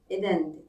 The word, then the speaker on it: Aden: Ve Lilith'in aslında Havva'dan önce Adem'in ilk eşi olduğu, Eden diye geçer ama Aden diye telaffuz ediyor Türkçe'de, cennette birlikte yaşadıkları söylenir.